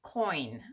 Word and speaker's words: Coyne: by a gal named Audrey Coyne, I believe is how you pronounce her last name. It's Coyne. And I will link that